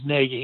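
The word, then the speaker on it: Nagy: don't know this, Matt Negi, uh, and it is Negi, even though it's spelled Naggie.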